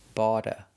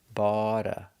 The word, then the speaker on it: bought a: If you have the word bought plus a vowel, then the t changes to a d sound, a fast d. bought a bought a He bought a new car.